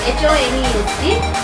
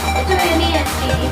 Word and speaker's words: honest: That is pronounced with the vowel sound. Let us take the word honest. HONEST. HONEST.